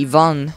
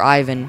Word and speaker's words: Ivan: all right john or it would be ivan and russian or ivan from that's how americans say it but they say it wrong time attack race for